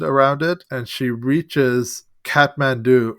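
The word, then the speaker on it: Kathmandu: it and she reaches Catman do or KATU as it's pronounced in India in the end of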